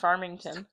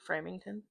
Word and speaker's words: Farmington: I think it's pronounced Farmington. Oh, okay. How did you pronounce it? Framington.